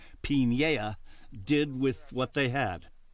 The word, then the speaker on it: Piniella: immigrants like the Piniellas, yes, that's the correct pronunciation, Piniella, did with what they had.